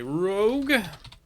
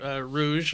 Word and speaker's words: rogue: going on to class you are a rogue not a rou I know it's so every time people misspell it it kills me it drives me my nuts my I played a World of Warcraft character that was a rogue and the amount of times I heard Rouge need a Rouge to